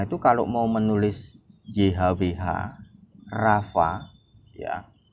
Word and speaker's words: Rapha: Saya dengar kisahnya entah benar atau tidak, orang-orang Perjanjian Lama itu kalau mau menulis YHWH Rafa ya, YHWH RAPHA itu tulisannya, bacanya Rafa gitu.